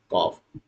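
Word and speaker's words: calf: हो रहा है बट कॉफ में है ना एल का प्रोनंसिएशन नहीं हो रहा है उच्चारण नहीं हो रहा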